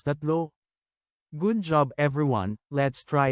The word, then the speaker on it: tatlo: pronounce it as dalawa t a t l o is number three in Tagalog change a ah then pronounce it as that good job everyone let's